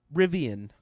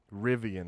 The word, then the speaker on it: Rivian: pretty sure that's something elon's getting rid of rivien rivian that's right how do you spell it r-i-v-i-a-n let's pull up all three here